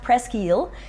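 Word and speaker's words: Presqu'ile: which um is pronounced presil uh but it's pres and then apostrophe I l e so almost an island in French and this is pino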